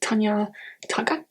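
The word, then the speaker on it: Tanya Tagaq: This is Split Tooth by Tanya Tagak.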